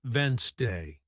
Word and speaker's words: Wednesday: But listening teaches you it's actually pronounced Wednesday.